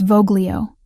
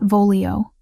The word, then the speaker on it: voglio: It's Voglio, not Volio. Soft G. Like this.